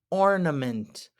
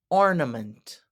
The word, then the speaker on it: ornament: love Christmas trees next up we have ornament ornament that a is pronounced like a uh again because of the schah ornament ornament what a lovely ornament we put the